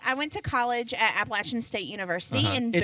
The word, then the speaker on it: Appalachian: I went to college at Appalachian State University in Boone. It's Appalachian, not Appalachian. Yeah, if you say Appalachian, I'm going to throw an Appalachia. Okay, because I've said it wrong before.